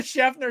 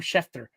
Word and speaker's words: Schefter: went from being kind of dead to adam schaffner dropping a nuke and rapper who adam schefter there we go adam schefner jared has not been able to pronounce his